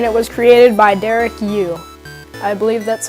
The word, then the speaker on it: Yu: So now if you don't know what Spelunky is an indie platformer game, and it was created by Derek Yu. I believe that's how you pronounce his last name, Y-U.